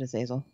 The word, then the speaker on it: Azazel: Another name that you might recognize is Azazel or Azazel. I pronounce it Azazel.